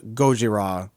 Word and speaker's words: Gojira: Americans in the helicopter says Gojira perfectly and he's like it's gojira and I'm like wow you nailed it you totally nailed the pronunciation and it totally came